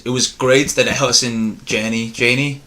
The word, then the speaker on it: Janney: I think that the scene at the end, it was great that Allison Janney, how do you say it?